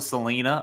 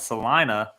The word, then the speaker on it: Salina: yeah Sal yeah Salena everyone calls it Selena or something but Salina Sal Kansas yeah and they